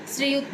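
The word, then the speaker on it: Srijut: So it's pronounced as it is just like Sri. సో మనం ఏదైతే టైటిల్కి mister add చేస్తాము, సర్ చెప్తాము, సో ఇట్స్ a kind of salutation, let us say. So that శ్రీయుత్ Majumdar.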